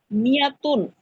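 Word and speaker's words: مائة: হুজুর একটা প্রশ্ন ছিল, এই যেখানে মিয়াতুন, এখানে তো একটা মির সাথে তো একটা আলিফ আছে। এই আলিফটা শুধু লেখায় থাকে, উচ্চারণে থাকে না, ঠিক আছে?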